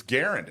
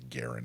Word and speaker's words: Garand: It's Garand.